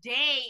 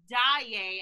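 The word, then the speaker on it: Daaé: is she even here they mispronounced christine's last name they call her day instead of daiye and i was just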